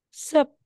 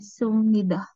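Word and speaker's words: 습니다: So, pag dito is sup, di ba po? Sup. Kaso, ito daw si Bio or si letter B or P ay nasundan ni letter M. So, ang bigkas natin yan ngayon ay magiging letter M.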